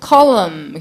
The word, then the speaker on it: column: 뚜껑 덮개 14번 lid L-I-D 그릇 용기, container, 기둥, column. 굉장히 어려운 스펠링이에요. C-O-L-U-M-N까지. N 소리가 안 나는 걸로. column.